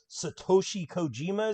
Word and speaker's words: Satoshi Kojima: ma said moxie we have mox taking on satoshi kojima is that correct uh correctly pronounced attaboy that's it so again i'm not